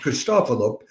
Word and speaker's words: Christopoulos: I'm always unsure exactly how to, whether it's the anti-penult or the penult that gets emphasized there. I have a picture of Christopoulos. I would pronounce it Christopoulos, but he has a good time when he's conducting, as you can see. If it were Russian, it would be Christopoulos, but he's Greek.